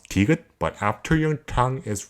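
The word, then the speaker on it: 디귿: This consonant is called tigut, and this is how you write it. Tigut has the sound when you pronounce niun, but your tongue has to touch the roof of your mouth above the front teeth and released. This ended up creating a sound like a D sound. Tu, tu, tu. For example, if you combine tigut with it pronounces as ta, ta, ta, ta.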